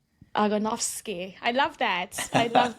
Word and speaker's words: Ogonowski: It's Agenovski. But but Agnovski. So the the W is a is pronounced as a V, right? Yeah. V/F like Avowski. Agonofski.